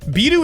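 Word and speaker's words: ビール: BIRU is how you say beer in Japanese.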